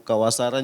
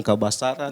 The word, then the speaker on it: Kabasaran: Ada yang sebutkan itu umbanua, semacam kawasaran juga ada bilang kabasaran, Iya.